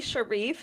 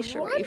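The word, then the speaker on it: Charif: So it's Zoe Sharif. So the CH sounds like the French pronunciation. Zoe Sharif.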